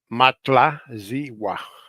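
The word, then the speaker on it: Matlazihua: they call a matlwa matla zwa let me let me tell you let me spell it m a t l a z i h u a it spells like that Legend has it that she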